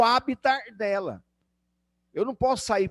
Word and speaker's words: habitat: vou falar de habita você escreve habitat beleza mas a pronúncia correta é habita muito bem o habitar